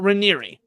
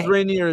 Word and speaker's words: Raniere: Uh Reeri Reeri I thought it was Reineer as well. I had to watch a bunch of interviews to figure out how to pronounce it. Yeah. Reeri.